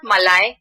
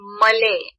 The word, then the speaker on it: Malay: pronounce them so okay it's not malai it's malay okay it's malay is from malaysia which is the neighbor country of singapore and in fact you might not know malay is malay is a singapore national